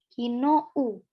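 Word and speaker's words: 昨日: Ikimashita ka, hai, kino, kino, panjang, kino u, gitu ya, kino u, bukan kino, kino, ya bacanya kino sih, kino wa patie kimashita.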